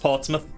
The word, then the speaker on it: Portsmouth: So, I bought Digimon cards in Portsmouth. Hung around for a while. They had a tea and coffee. Is that how you say it? That does not sound remotely like mouth. Yeah, it's just Portsmouth.